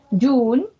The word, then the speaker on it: June: June, June, June, June, June, June. Only one sílaba, aunque no parezca solo tiene una sílaba, entonces solo es un golpe de voz.